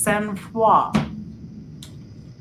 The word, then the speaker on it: sang-froid: So the word is sang-froid. But it looks like Sanfroid.